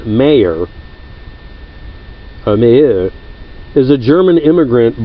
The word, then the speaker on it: Mayer: the United States and he spelled his name one way and said it another and most Americans bastardized